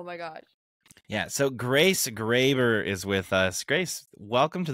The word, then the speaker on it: Graber: name right is it Graber yeah it's it's Graber okay it see our last name is pretty